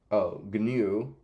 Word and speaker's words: GNU: And it's pronounced, GNU, by the way.